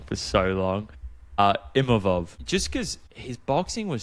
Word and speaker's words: Imavov: Imavov, just because his boxing was so slick and I feel like he was controlling the range really well.